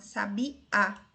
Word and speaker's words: sabiá: A divisão silábica é dessa forma, 3 sílabas, sabi, só porque a sílaba tônica é a última, sabiá.